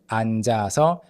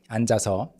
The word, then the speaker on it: 앉아서: On the chair, and 앉아서, sitting there. So 앉아서, 안, and then the 지읒 is carried over. 앉아서, it's not silent.